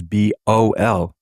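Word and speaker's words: בעל: And it's spelled Bayat Ayin Lamed, which is Bol.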